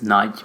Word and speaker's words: Nagy: It's Nagy, but it's a...